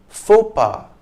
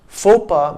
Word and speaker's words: faux pas: of the word and as is typical of french pronunciation the consonants at the end x and s are silent fopa means a social gaf